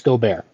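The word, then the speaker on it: Gobert: for Rudy goar and is that how you pronounce his name or is it go I believe I believe it's goar yeah okay he just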